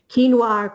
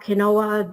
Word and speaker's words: quinoa: bit smaller than um quinoa kinoa you know different people pronounce it different ways so it's one of those